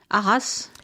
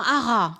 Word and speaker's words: haras: Arras. Where you breed The horses. Ah, c'est un haras. An haras. C'est un haras. I don't think you say the S.